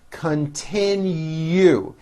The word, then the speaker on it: continue: will complete our project continue three syllables last syllable has a hidden y continue his classes will continue